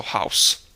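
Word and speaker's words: Haus: the case in German you simply will say ah followed by the o sound which of course gives you the ow sound so house next this the a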